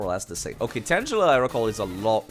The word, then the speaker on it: Tangela: It's not pronounced Tangela. No, it's Tangela or Tangela.